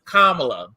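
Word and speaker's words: Kamala: door for us and the correct way to pronounce her name is kamla let get that before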